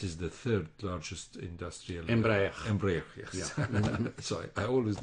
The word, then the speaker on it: Embraer: Embraer, yes. Yeah. Sorry, I always knew that I would not be able to pronounce it.